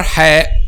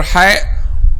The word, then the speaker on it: ح: when they pronounce letter hai which is they pronounce it like letter h in english okay they pronounce it